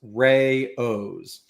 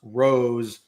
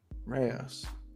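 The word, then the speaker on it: Rao's: Okay, the pasta sauce, according to AI, the pasta sauce brand RAOS is pronounced Rayo's. Oh, it is not pronounced Rose or Rouse. Rayo's.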